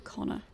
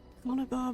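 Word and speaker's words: Conchobar: Because the name they've said is Conobar should have an H after the B, and it's the Irish name for Connor. It's Connor. The BH is silent. It's Connor, not Conobar, but never mind, never mind.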